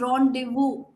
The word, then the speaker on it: rendezvous: for you it is rendezvous the Z is silent the S is silent very irritating right okay